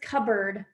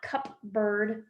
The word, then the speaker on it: cupboard: did not the way that we pronounce that word is cupboard it's not cup bird right it's a cupboard